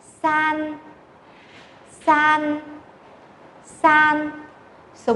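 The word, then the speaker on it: 三: Số 2 đọc là R, R, R. Số 3, san, san, san.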